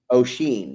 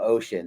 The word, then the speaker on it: Oisin: Oisin? O'Sheen. Yeah. I heard it was Percy Barr. Was the Colebrook, right? That was calling him Ocean the other day, so it was fun.